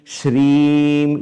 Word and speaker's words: श्रीं: i'm not i'm i'm shreem you have to lengthen that okay so i'm just